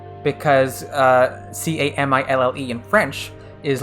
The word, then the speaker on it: Camille: japanese name is this kamiyu kamiyu with a y sound not with an if